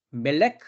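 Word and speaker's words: מֶלֶךְ: 돼 있죠 어 그러나 발음은 어떻습니까 멜렉 말라크 예 그래서 모음 부호만 다를 뿐이란 말이죠 그래서 멜레크 통치하는 거고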